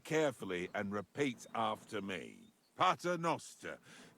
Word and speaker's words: Pater noster: You're saying it wrong. Listen. It goes like this. Pater noster.